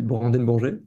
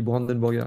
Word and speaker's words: Brandenbourger: cherman poli me demandent comment on prononce mon nom et je leur dis brand bourg et puis je commence mon talk et je me présente sans réfléchir et je dis Brandon Burger et là ils sont